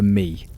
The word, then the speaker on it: me: There is a concept written across some of these tablets that scholars translate with a small word, the MI. You'd say it's something like may in English, though the pronunciation doesn't matter as much as what it meant.